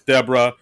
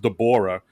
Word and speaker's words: Deborah: Cuz like basically uh Connor calls her, "Oh, thanks Deborah." And she says, "Oh, it's actually pronounced Dborah."